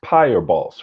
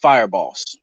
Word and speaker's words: Fireboss: So Your real name is Pyre Boss, right? Oh no, it's pronounced Fireboss.